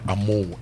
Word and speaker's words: Ameo: Yemo Anand from University of Ghana says tomato is Amoah, yes, but he spells it AMEO, and he says it's pronounced Amoah in Ghana.